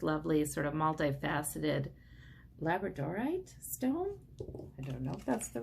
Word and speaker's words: labradorite: who chose this lovely sort of multi faceted labradorite stone that's the right way to pronounce it oh we kept the wheel of